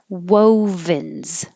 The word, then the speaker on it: wovens: it solstice solstice wovens remember whoa you have to make your lips small a little bit bigger and small again whoa like whoa wait a minute wovens after you make your w you have to make a v so you have to unround a bit so your top teeth can touch your bottom lip wovens and then a z at the end wovens february forget about